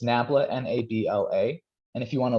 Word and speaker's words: nabla: the way the symbol you see here is pronounced nabla um I believe it's a Greek symbol it's